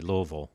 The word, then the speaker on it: Louisville: dad was from Kentucky Louisville okay very very nicely done and I didn't even have to practice I grew up saying it that way well let's talk a